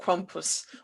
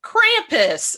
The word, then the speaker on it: Krampus: tonight is all about krompus or krampus as he's known about in the united states so for those of